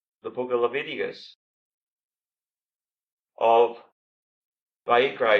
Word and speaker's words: Vayikra: It's a different word altogether in the original language, which in Hebrew, the book of Leviticus is actually called Vayikra.